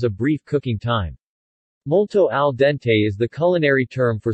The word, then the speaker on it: al dente: in cooking al dente Italian pronunciation al dente describes pasta or rice that is cooked to